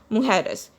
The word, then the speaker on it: mujeres: J is pronounced as hota in Spanish. It is pronounced as mujeres.